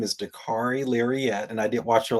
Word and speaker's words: Dakarai Larriett: Well, first off, my name is Dari Lirette and I did watch your last episode and appreciate all the work on my pronunciation. The car rhymes with safari and I'm a